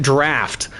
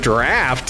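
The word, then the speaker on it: draught: Even my older brother pronounced it draft. And I was like, do you what kind of idiot pronounced that word draft? It didn't even cross my mind that he said it right.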